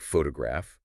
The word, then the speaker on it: photograph: When you learn a new word like photograph, you could draw a big circle over foo and small ones over to graph.